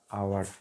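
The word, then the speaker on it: hour: Next उस पर आते हैं एग्जाम्पल पे, the train run 60 kilometre an आवर, an article का यूज हुआ, एन आवर, एच साइलेंट, हमने एन का यूज़ कर लिया यहाँ पे।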